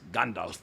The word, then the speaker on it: Gandalf: It's not Gandalf, it's Gandalf.